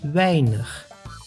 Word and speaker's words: weinig: A plus I together makes the sound I, like in weinig, which means few.